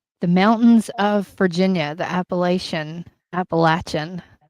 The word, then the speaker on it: Appalachia: Um, both Adam and I are from the mountains of Virginia, the Appalachian Appalachian. Appalachian. We had that discussion before on how to say it and it is Appalachia.